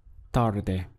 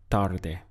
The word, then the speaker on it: tarde: Boyer upper arm a the word for late in Spanish is tarde we have two syllables tar and de tarde now to Express I'm